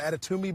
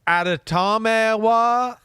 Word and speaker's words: Adetomiwa: I think I said Toomey, so it's more of an Adetomiwa boo or something like that.